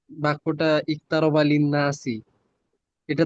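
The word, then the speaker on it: اقترب: কিন্তু শুরুতে থাকলে উচ্চারিত হয়, ঠিক আছে, কিন্তু শুরুতে থাকলে উচ্চারিত হয়। তো উচ্চারিত হয়। এখানে কি বাক্যের শুরুতে না, আয়াতের শুরুতে তো, এটা 1 নম্বর আয়াত, জি আয়াতের শুরুতে আসছে। হ্যাঁ, ইকতারাবা, ইকতারাবা লিন্নাসি হিসাবাহুম। ইকতারাবা এখানে কি শুরুতে আসছে, ঠিক আছে।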